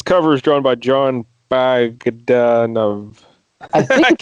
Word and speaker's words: Bogdanove: And this cover is drawn by John Bogdanove. I think it's Bogdanove. I think. I can never say his name because I always want to say Bogdanovich, like the director.